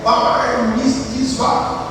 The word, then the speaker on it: bar mitzvah: E nessa cerimônia, a pronúncia é bar mitzvah.